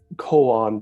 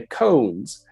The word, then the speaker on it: koan: uh renzai are the koan practices now sometimes you'll hear people in English say cones but that's not how you pronounce it it's brought colon uh